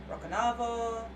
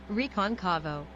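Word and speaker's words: Recôncavo: Brito, history professor at the Federal University of Rocanavo. Okay, let's try it again. Roconconvo. Okay, I can't pronounce that.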